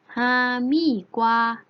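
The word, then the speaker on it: 哈密瓜: มาก เหมือน กัน แคนตาลูป แคนตาลูป ใน ภาษา จีน แล้ว จะ ออก เสียง ว่า ห้าม อี้ กว่า 5 มี กว่า โทร หามี่ กว่า นัก เรียน แล้ว ออก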